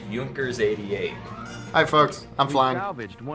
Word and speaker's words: Junkers: It's supposed to be pronounced Junkers.